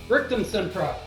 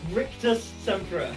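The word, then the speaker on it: Rictusempra: Oh, I think that was a mispronunciation on the Rictus Sempra there, Raphael. Alrighty, so that's a backfire because you mispronounced it. I think that I think you said Rictum Sempra again.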